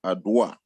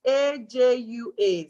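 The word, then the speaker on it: Adwoa: It's A-J-U-A. So even though it's spelled A-D-W-O-A, you pronounce it with a J. So it's Ajua.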